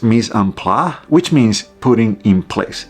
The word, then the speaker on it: mise en place: I think it's pronounced mise en place which means "putting in